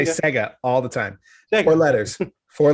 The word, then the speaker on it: Sega: So I won't correct you anymore when you say Saga. Sega. Now you got me questioning it. Sega. You say Sega all the time. Sega.